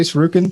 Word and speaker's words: shuriken: The weapons were very clever and the auto aim, how do you say shuriken?